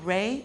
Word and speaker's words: Ra: One of the most important neter in the book was Ra. Ra, if you pronounce it Re, it's the same word, represents light and the energy which comes forth from the sun.